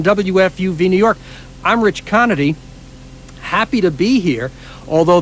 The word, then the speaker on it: Conaty: Conity, just like it's spelled.